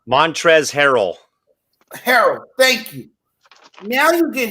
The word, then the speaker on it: Harrell: I always say his first name wrong. Montrezl Harrell. Harrell, thank you.